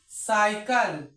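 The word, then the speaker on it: cycle: आया वाला देखते हैं सीवाई सी एल ई अब इसको क्या पढ़ेंगे साइकल साइकल पढ़ेंगे तो इसमें जो लास्ट में ई है तो लास्ट में अगर ई रहेगा तो ई साइलेंट रहेगा जो शुरू में सी है उसको सा हमने क्यों पढ़ा क्योंकि सी के आगे वाई आया है ई आई वाई ये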